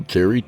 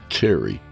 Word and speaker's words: Terrye: So tonight we're joined by our old pal Terrye Turpin, pronounced Terry.